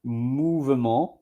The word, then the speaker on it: mouvement: But you add an U, but it's not pronounced movement or movement. No, it's mou, M-O-U, mou, V-E, ment, M-E-N-T.